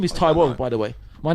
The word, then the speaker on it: Taiwo: yeah, Tai Wo. So don't disrespect the name that It actually my says parents gave me. T-Wo.